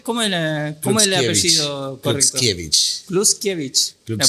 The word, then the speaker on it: Kluczkiewicz: Kluskiewicz. La pronunciación correcta.